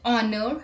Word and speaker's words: honor: h let's look at the examples our honest honor higher let's look at the exception words hill